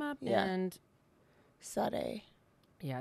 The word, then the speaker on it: Sade: Okay, it's spelled S-A-D-E, but it's like Sage or Suave.